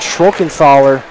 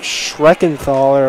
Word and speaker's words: Schreckenthaler: A little size mismatch, cutting Classy, finds himself toughly guarded, and Schrockenthaler, he crushes Classy, so Classy will be at the free throw line. So a little mispronunciation of his name, Jake Schreckenthaler apparently.